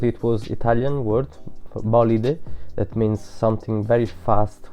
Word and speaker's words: Bolide: I don't know how to pronounce it, because the actual spelling is the same in three different languages: Italian, French and English. It's the same word for wow. So, but I know it's French, bolide.